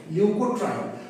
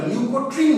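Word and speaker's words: leukotriene: এটা মুঝলাম প্রথমে কি শিখবো বললাম লিউকোট্রাইন কাকে বলে লিউকোট্রাইন অনেকে না এটাকে ভুল করে ভুল উচ্চারণ লিউকোট্রিন বলে উচ্চারণটা কিন্তু লিউকোট্রিন না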